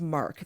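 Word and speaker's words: marque: is uh considering issuing letters of mark.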